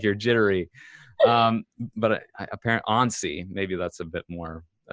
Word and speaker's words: Annecy: up here is because it was revealed at Annecy Animation Festival in France, Annecy, France. It's kind of an odd. It doesn't sound right when I say it that way. Annecy, like like you're jittery. But apparently Annecy, maybe that's a bit more, formal sounding.